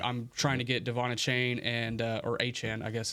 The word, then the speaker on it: Achane: oh yeah, by the way, my name is pronounced Achane.